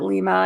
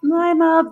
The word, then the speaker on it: Lima: A lot of people have come in too and called it Lima, and I'm like, no, Lima, that's okay.